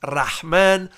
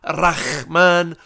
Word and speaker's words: Rahman: It's Rahman, not Rahman, the way Ariel Hawani say it. There's no kha, it's the ha. It's a different letter in Arabic.